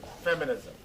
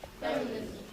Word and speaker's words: feminism: Usually all English words are four syllables that end in ISM have their primary stress on the first syllable. So say optimism. Optimism. Feminism. Feminism.